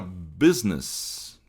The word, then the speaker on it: business: Aí tem a palavra business com oito letras e seis sons. Business. Olha só. A gente tem aqui de novo a acentuação na na sílaba forte aqui, que é logo no início da palavra, né?